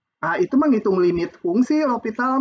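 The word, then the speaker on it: l'Hôpital: itu menghitung limit fungsi lopital mah bacanya lopital itu menghitung limit teorema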